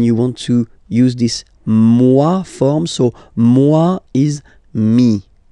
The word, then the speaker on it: moi: Okay, moi, so it's me, moi. So remember this O-E combination gives you the sound wa wa wa, moi.